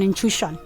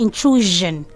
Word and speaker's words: intrusion: There's an intrusion. Okay, it's supposed to be intrusion. Intrusion. Okay, and then this one people mispronounce regularly.